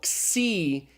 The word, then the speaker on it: xi: we do a little it's the C okay it's an XS kind of sound it's like the X and axiom so C is pronounced as in axiom just make sure you